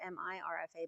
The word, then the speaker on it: Mirfa: the continent of Mirfa, spelled either M-E-R-F-A or M-I-R-F-A, but pronounced like two E's, Mirfa.